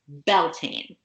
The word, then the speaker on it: Beltane: let's move on to belting okay so this um again a couple different spellings different pronunciations do you say it the same way I do I say belt in yep same okay all right